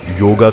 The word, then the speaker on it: योग: जो शब्द है वह योग है योगा नहीं अंग्रेजों ने उसमें पीछे लगा के राम को रामा कृष्ण को कृष्णा गणेश को गणेशा बना दिया नहीं ऐसा होता है सबसे पहले तो हम